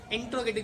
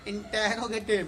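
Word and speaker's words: interrogative: इंट्रोगेटिव की तरफ बढ़ते हैं. और एक चीज ध्यान रखना, हर वीडियो में आपको मार्क करता हूँ, इट इज not pronounce इंटेरोगेटिव. इट्स नॉट इंटेरोगेटिव, it's actually इंट्रोगेटिव.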